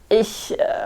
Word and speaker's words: ich: word for I, and you have to kind of like ich, but a lot of people first learning German say like ich or ich, because it's spelled in English, you'd see ICH and it looks like itch or ich, but you'd say it much softer, like ich.